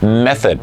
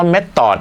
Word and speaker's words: message: ก็ ถือ ว่า และ เสริด นั้น เอง ครับ Message นะ ครับ เดี๋ยว ผม พูด เสมอ นะ ครับ ว่า เท่า ไหร่ สิ ว่า เม็ด ตอด นะ ครับ ผม มัน ก็ จะ เป็น สิ่ง